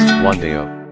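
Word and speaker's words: 冠道: The name in Chinese is, which is pronounced Guandao.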